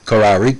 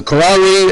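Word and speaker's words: Khaury: moronic maronite catholic priest now uh karari uh k-h-a-u-r-y that's uh how how we pronounce in canada karari displayed musical talent at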